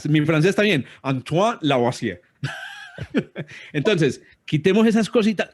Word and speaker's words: Lavoisier: Antoine Lavoisier.